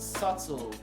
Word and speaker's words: subtle: 2 is pronounced as subtle so so the b is voiceless so i'm trying to